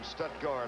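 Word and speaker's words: Stuttgart: Otis Lloyd from Stutgard, Arkansas said he wanted you to make sure you pronounced that correctly, right?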